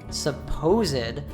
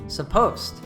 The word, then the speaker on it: supposed: Also, notice the difference of this word when it is an adjective, supposed, or a participle, supposed.